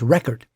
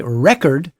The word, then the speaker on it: record: Now, that can either be pronounced as record or as record. If you say record with stress on the first syllable, it's a noun.